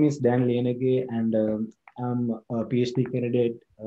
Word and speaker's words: Liyanage: plea feel free to correct my uh my pronunciation and we'll get started yes right so my name is dan lienergy and i'm a phd candidate from the ohio